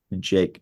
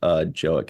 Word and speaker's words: Jaeck: Jake, not Joick. It's Jaeck.